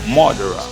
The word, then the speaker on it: murderer: As we noted earlier, the R sound can be tricky. That's what makes murderer. With its three round R's, particularly difficult to pronounce. The word is pronounced murderer, murderer, murderer.